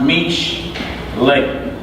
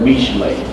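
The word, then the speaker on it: משלי: It's pronounced mish lay. Alright? Put it down here how it's pronounced. All over it. Mish lay. Mish lay. That's how you say proverb.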